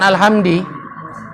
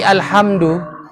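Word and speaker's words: الحمد لله: bisa dia rocati makanya al-fatihah itu bacanya bukan alhamdi tapi alhamdulillah ya bukan alhamdi kan Alhamdulillah Ironi Kenapa kok Bisnis kenapa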